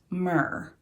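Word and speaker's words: мир: out for Ukraine and this is the Ukrainian word for peace and if I remember correctly it's pronounced myrrh so I then I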